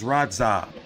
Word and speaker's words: Radzhab: So it's Radzhab. The H is silent. So the ZH is like one letter and shit.